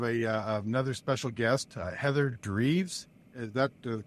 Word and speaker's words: Dreves: today I have a another special guest Heather dreves is that the correct pronunciation Heather that's correct good job and she's